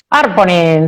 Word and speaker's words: Arponen: Arponen, todas las palabras finlandesas se acentúan en la primera sílaba, aunque tengan 20 sílabas.